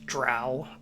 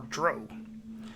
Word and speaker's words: drow: O-W always rhymes with cow.